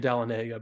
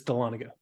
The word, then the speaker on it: Dahlonega: I kept saying Dahlonega, but it's Dahlonega.